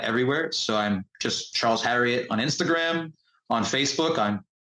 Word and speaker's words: Harriott: My last name is Harriott, spelled like Marriott, but with an H.